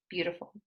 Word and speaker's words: beautiful: For example, there are 3 syllables in the word beautiful. Beautiful. And the word stress falls on the first one, beau.